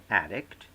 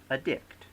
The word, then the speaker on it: addict: to verb for example the word addict becomes addict the word attribute becomes